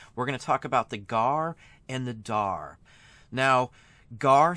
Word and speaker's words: GAR: are pronounced meaning that it's not spelled out as GA r it is a acronym for gar and you pronounce it now something like FBI